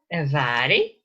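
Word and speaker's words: Mhàiri: Mari, Vari. So we already know this name, Mari. So if you call her, it is Vari.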